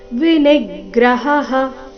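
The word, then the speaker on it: ವಿನಿಗ್ರಹಃ: ಸ್ಥೈರ್ಯಮಾತ್ಮ ವಿನಿಗ್ರಹ ಸ್ಥೈರ್ಯಮಾತ್ಮ ವಿನಿಗ್ರಹ ನಿ ಮೇಲೆ ಆಘಾತ ಹ ನಂತರ ವಿಸರ್ಗದ ಉಚ್ಚಾರಣೆ ಮತ್ತೊಮ್ಮೆ ಹ ವಿನಿಗ್ರಹ ನೋಡೋಣ ಪೂರ್ತಿ ಶ್ಲೋಕ ಮೂಲಗೀತೆಯ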